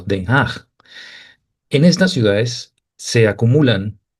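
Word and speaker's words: Den Haag: pronunciado en holandés como Denhaj.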